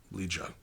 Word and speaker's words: Leja: Leja.